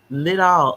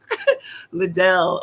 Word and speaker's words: Lidl: Oh, listen, Lidal. I'm so glad you said that, because I was wondering. I just knew I was pronouncing it wrong. Okay. I knew I was pronouncing it wrong. I just was like, I didn't even bother to ask anybody. I was just like, little Liddell.